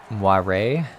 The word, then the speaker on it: moire: that that's the cheering moyer is french pronounced moire um cameron i think